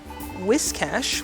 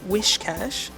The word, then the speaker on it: Whiscash: And Whiscash, which is apparently the appropriate way to pronounce it, is I am always saying Wishcash. Whiscash says the same thing. Obviously, it's a play on whiskers.